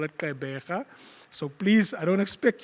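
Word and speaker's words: Gqeberha: They call it Kaibega. So please, I don't expect you to pronounce it like that.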